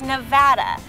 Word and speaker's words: Nevada: name of my state it's Nevada the a is like an ad or cat it's very irritating to